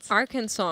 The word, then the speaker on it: Arkansas: Kansas and Arkansas and Arkansas.